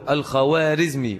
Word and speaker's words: الخوارزمي: الدين الخارم والخار ازمي تنطق بالواو الخوارزمي ولكن هذه الواو تسمى في الفارسيه بالواو المعدوله فلا تنطق الخارم ولكنها تكتب بالايه بالواو الخوارزمي الذي حدث ان جنجس